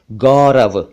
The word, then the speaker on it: गौरव: अच्छा, एक नाम होता है गौरव, इसको कई बार लोग गौरव कह देते हैं, गौरव, वो गलत है, सही उच्चारण है गौरव।